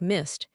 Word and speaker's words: missed: It sounds like missed. Is that right? I missed the bus and I kissed him rhyme. You got it perfectly. Missed and kissed rhyme with list or missed. Mist equals missed.